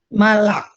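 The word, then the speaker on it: מלאך: mal oh mal mal malak malak ini jadi silent ya jadi bacanya Malak ini ini silent. Jadi dia malak ya ini spanya spa silent artinya malaikat mal a ya.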